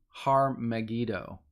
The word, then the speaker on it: Armageddon: been the word like it's kind of pronounced har magido okay that's what most